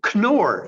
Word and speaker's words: Knorr: The Knorr, and yes, you pronounce the K.